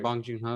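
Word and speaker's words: Bong Joon-ho: exactly exactly what her alfonso cuaron john uh bon joong ho i hope i'm no i'm butchering know you're saying it right bong jung ho yeah um they all are so involved like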